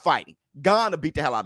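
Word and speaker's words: Gane: How do you pronounce his name? Because I always say Gaines. I say Gaines, and I know that is completely wrong. I forgot how to say his name. What's his name? How you pronounce it? Gone. Right. Gone.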